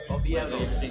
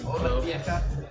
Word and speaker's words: Oviedo: Oviedo. Oviedo. Oviedo.